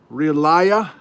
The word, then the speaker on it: Relaya: Relaya. Mrs. Relaya. She says it's pronounced like reliable, but don't do the bull.